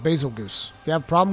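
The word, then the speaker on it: Bazelgeuse: there's some uh there's some discrepancies in how people want to pronounce basically some people are saying it's basil juice it's basil geese it's a bit i don't care okay i'mma call it basil goose if you have a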